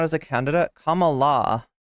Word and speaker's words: Kamala: not as a candidate comma La it's like come alive when the curtain calls